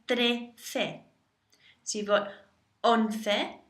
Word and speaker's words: once: Think of once. One number over 10, once. Once.